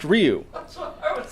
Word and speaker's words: Ryu: yeah that's what I was saying Ryu it's pronounced Ryu that's what I would say I agreed with